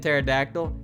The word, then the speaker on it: pterodactyl: blame the jerks to put a silent p and pterodactyl hey you say that